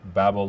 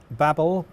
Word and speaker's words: Babel: why I'm seeing the babel loader here because i tell what compiles at TSX is that right yeah so babble or Babel depending on how you like to pronounce it is very widely used